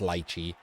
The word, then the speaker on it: Liche: I've said his name wrong again, it's Liche.